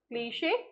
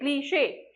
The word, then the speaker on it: cliche: words like for example like cliche right like niche in both the words here CH is pronounced as she cliche and in this case